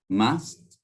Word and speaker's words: must: Listen to the pronunciation of should, must, and ought to. Listen and repeat the sentences. 1. Should rhymes with would, could, and good. 2. Must rhymes with just, dust, and fussed.